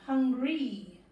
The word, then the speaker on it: hungry: And ends with an E sound, hungry. But it's got a Y, so that Y makes an E sound, hungry. And it's got two syllables, hungry.